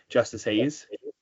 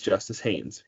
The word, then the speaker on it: Justice Haynes: now, buy stock in Justice Hayes. I didn't say his name right. My bad. His name's not Justice Hayes. It's Justice Haynes.